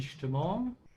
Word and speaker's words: Stimmung: Also die Stimmung, mood. And remember that most of the time, whenever the S comes before a T, it's pronounced like a sh. Yeah, Stimmung.